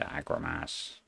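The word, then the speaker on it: Agromasz: So we're going to go for this guy, the 2.5 meter Agromas.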